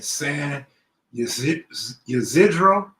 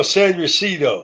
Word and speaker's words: San Ysidro: says what does the border look like in San Ysidro? No, San Ysidro. San Well, Ysidro. okay, San Ysidro, that's the party side of Tijuana.